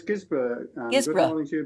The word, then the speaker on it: Guisborough: How should I say it? Is it Guisborough? No, it's Guisborough.